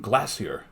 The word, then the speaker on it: glacier: pronounce it like g-l-a-y-s-h glacier when i was there the few times i heard it it was like glacier but they're saying glassier and i've never heard